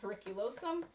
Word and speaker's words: periculosum: So, for instance, Latin has a word, periculosum. Per, right, at the beginning is its first syllable. This lo here, this los here, is the stressed syllable.